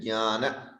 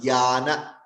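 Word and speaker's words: ज्ञान: It is not jnana. I've seen a lot of people pronounce it as jnana. It is wrong. It should be nya and ja.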